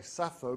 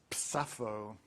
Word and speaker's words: Sappho: Of course, you don't say Sappho because that's not how her name is pronounced in lesbian dialect. It's Sappho.